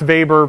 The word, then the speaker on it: Weber: sorry and just as an aside it's Max Weber pronounced it like a V because it's a German